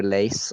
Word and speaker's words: Lasse: not lord lorster yeah lasse is l-a-s-s-e he's uh it's it's just pronounced like maybe lace i think in okay okay it's a norwegian name so he's actually a